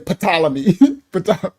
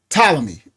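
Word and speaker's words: Ptolemy: know they be saying patalamy. Right. So I would say fly me. Thank you. Thank you Hakyama for doing that. All right. So it's talomy. Yes, but the P is silent, right?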